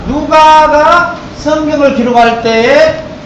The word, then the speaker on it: 누가: 그 발음을 좀 쉽게 하면 눈가 이러면 큰일 나요. 누가.